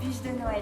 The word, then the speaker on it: bûche de Noël: En France, c'est la bûche de Noël Si on prononce en français, ça donne ça C'est donc une "bûche"